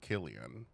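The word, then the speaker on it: Cillian: I I well I finally realized that you pronounced it Killian I wonder if this is just showing us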